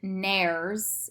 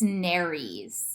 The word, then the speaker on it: nares: syncope and this isn't nares it's narys you're pronouncing the e and when i appears